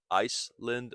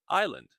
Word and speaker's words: island: Notice the pronunciation island. Not Iceland or isand but island.